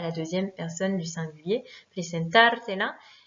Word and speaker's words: presentártela: Presentártela. Même chose, on a rajouté deux syllabes, donc il faut rétablir l'accentuation. L'accentuation se fait donc sur le A de presentar, presentártela.